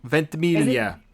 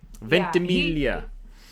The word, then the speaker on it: Ventimiglia: Milo Ventimiglia. Ventimiglia.